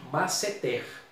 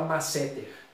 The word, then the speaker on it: masseter: Um músculo facial, a pronúncia padrão dela, a tônica é a última, masseter. Muita gente às vezes fala masseter, mas a pronúncia padrão é essa.